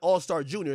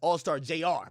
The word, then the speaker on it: Allstar Jr.: It's not Allstar Junior. It's Allstar Jr. My bad. It's JR.